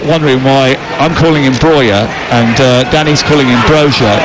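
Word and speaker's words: Broja: He plays internationally for Albania, and the reason he wants to be called Breuer is because that's how they say it in Albania. He was born in Slough, though. Does that help you? If he was born in Slough, it's got to be Brozier, isn't it? Breuer.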